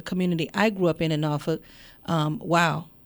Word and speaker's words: Norfolk: the world, and it's Norfolk. That's how you say it. If you look at it and read it, you might say Norfolk, but it's Norfolk.